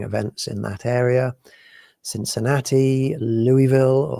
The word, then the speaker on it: Louisville: Cincinnati, Louisville, or Louisville, as somebody recently said I should pronounce it.